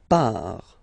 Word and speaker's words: part: Il, elle, part. Final T not pronounced, il, elle, part.